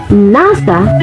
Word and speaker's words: NASA: shorter name nasa and we can say now letter by letter however we pronounce as nasa in one term note blending is one